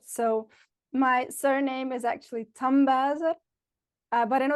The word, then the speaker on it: Tambuyser: So, my surname is actually Tamboisa. Uh but I know it's very difficult to pronounce.